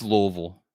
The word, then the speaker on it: Louisville: home of the Sluggers it's Louisville like like many people say like you have to say it like you have marbles in your mouth but you know that